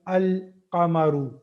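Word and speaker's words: القمر: So that will become al-qamaru. Al-qamaru. Now, what is the importance of this is in the Qamariya letters, the lam is pronounced. The lam there is a sound of lam.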